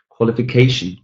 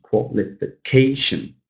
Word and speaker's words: qualification: G, 5 syllables. The second to last, the penultimate syllable is stressed. Number 8, qualification, qualification, qualification.